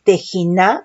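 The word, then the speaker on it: תְּחִנָּה: Vamos a ver aquí que es del Hebreo 8467, que es Tejiná con doble N, acento en la última A, que es gracia, halagar, misericordia, oración, ruego, súplica, plegaria.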